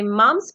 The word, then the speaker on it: mumps: ठीक है, समझ आ गई कि मम्स पी साइलेंट है इसमें।